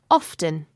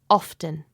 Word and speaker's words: often: say often like this often you can hear the T sound often other people like Finn pronounce it with a silent T like this often often both ways are